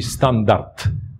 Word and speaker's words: standard: inteligencka wymowa przewidywała że się mówi standard tam powinno być te na końcu bo jest ubezdźwięcznieniem standard standardowy natomiast pretensjonalni ludzie